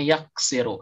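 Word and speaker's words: يَغْفِرُ: ketika misalnya nanti menemukannya ini bacanya apa ya Oh ternyata dibacanya yaghfiru Karena dalam kamus juga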